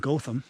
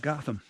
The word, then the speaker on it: Gotham: in Portage Wisconsin and it's Stoughton not Stoughton and Gotham not Gotham if you can pronounce